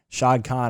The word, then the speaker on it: Shad Khan: The one thing I'll say about the owner, Shad Khan, I believe is how you pronounce his name.